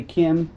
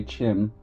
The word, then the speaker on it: Chim: apologize if I've mispronounced Chim I've heard some people say Kim and some people say Chim I usually say Chim as we know the